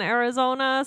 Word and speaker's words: Arizona: It's not an E sound. It's more of an sound, like a schwa sound.